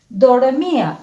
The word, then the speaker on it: dormía: Entonces digo dor, mi, a. Son 3 golpes de voz que damos. Dor, mi, a. Entonces esta tiene 3 sílabas.